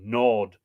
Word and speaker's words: gnawed: day by a vulture i don't think he pronounced the g nod by night what had